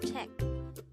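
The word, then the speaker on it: 책: is checked again it's check this is pronounced which is one syllable which is check itself again remember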